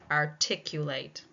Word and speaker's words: articulate: Articulate. Where do you think it is? Did you say this? Yes. It ends in late. It will be on the second syllable. Articulate.